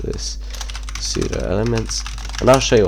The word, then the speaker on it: pseudo: be talking about css pseudo elements um what they are and how to use them so pseudo elements actually over p the p is silent but yeah basically they're